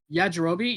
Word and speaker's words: Yajirobe: Yajirobe, is that how you pronounce his name? Yeah, Jirobe. Yep. Yajirobe, yeah.